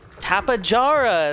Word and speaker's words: Tapejara: Tapejara. Let's see, what is Tapejara? Okay. Tapejara! The J is just a little bit more pronounced.